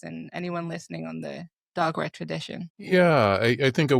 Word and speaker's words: Dagara: And so one thing I was really interested in is the Dagara tradition. Am I saying it correctly? Yes, the Dagara.